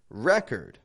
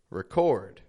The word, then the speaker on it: record: that a record that's the same spelling but the difference is that the verb is stressed on the second syllable the noun however is stressed on the first syllable record record how about another one